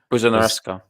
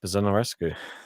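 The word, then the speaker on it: Buzărnescu: It is I'm going to get this name wrong again. Buzonarescu. All right, JG. Buzonarescu.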